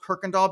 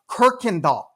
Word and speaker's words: Kirkendall: And I do know that's pronounced Kirkendall because it's taken me 3 years to properly pronounce that. Look at this. Can you all pronounce that? It's pronounced Kirkendall.